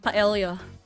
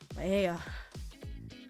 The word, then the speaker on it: paella: Okay, this one is paella. Paella. Okay, I'm gonna call it paella because that's how I pronounce it.